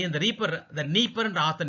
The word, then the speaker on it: Dnieper: பாருங்க, நீப்பர் ஸ்பெல்லிங் பாருங்க, DNIEPR. இங்க டி சைலண்டா இருக்கணும், டி உச்சரிக்க கூடாது. நீப்பர், இந்த நீப்பர்ன்ற ஆறு எங்க இருக்கு அப்படின்னா ரஷ்யாவில் இருக்கு.